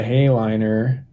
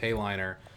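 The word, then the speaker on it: Heighliner: And I don't think I need the Hayliner.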